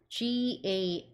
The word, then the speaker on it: garlic: Garlic 마늘은 이렇게 쓰고요. gar 발음이 gar 길게 해주시면 되고 lic는 lick 해주셔서 같이 붙여주시면 garlic garlic sauce, garlic pasta, garlic paste, garlic salt.